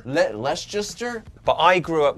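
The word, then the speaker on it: Leicester: he's from a town that I still cannot pronounce Lester Lester but I grew up not very far from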